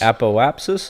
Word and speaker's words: apoapsis: our the Appo apsis apoapsis is that how you say that yep you know how to say it and I don't know